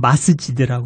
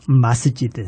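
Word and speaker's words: مسجد: 그리고 이제 이 모스크는 영어식 발음이고 아랍어로는 마스지드라고 그래요. 마스지드.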